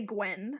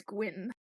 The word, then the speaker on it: Gwyn: we also meet i i instinctually say gwen but i know it's gwyn i yeah i say